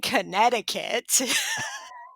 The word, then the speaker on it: Connecticut: is about, a group of young women in Connecticut.